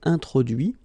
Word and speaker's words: introduit: Okay, so the same rule because, well, basically it's the same group and then same rule, final T not pronounced, so introduit, produit, réduit, séduit, traduit.